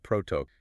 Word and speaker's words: protoc: We need to look at the protocol buffer compiler. Right, we're talking about proto. It rhymes with rock. Just say it's one smooth word, you don't spell it out.